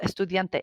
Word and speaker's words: estudiante: So estudiante, anytime you see the letter E, make sure you say the sound E.